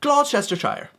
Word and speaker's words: Gloucestershire: And that, of course, is Gloucestershire.